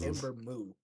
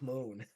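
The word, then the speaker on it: Ember Moon: as her partner and did not pronounce her name right she said Ember moo Jesus Moon that would never leave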